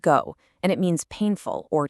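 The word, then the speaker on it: 苦: In Korean, it's pronounced go, and it means painful or to suffer.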